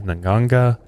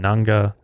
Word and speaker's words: nganga: i'm saying that right it's it's pronounced i've multiple pronunciations naganga and nanga pretty much the same thing i went off of a spanish pronunciation so i think you're